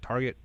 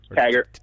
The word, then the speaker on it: Taggart: Is it Target? Taggart. Taggart.